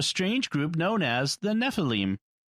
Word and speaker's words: Nephilim: Yeah, Nephilim. Okay. Typically in Hebrew, the accent is on the last syllable.